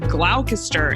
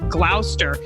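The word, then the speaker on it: Gloucester: Like originally I said glalcaster instead of glower.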